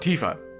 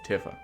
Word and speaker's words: Tifa: order than TIF up it's not Tifa its Tiffa i'm so glad everyone's